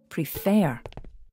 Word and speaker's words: prefer: make a mess okay in the word prefer the second syllable is stressed you can check where the stress is by saying the word out loud prefer and when the fair